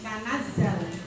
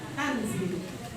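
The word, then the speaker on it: تَنَزَّلْ: Tanazzal, bukan tanzil.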